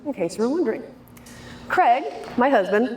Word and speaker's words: Craig: Craig, my husband, rhymes with keg, so now you'll remember.